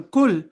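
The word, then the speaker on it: كل: Pronouncing each letter according to the attributes also means that difference between thick and thin letters. For example, kul means eat and qul means say.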